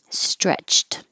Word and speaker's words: stretched: waved we waved goodbye stretched this ed sounds like a t because the ch is